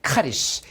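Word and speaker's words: χάρις: CHARIS. 이거 크로 발음하시면 돼요. 카리스.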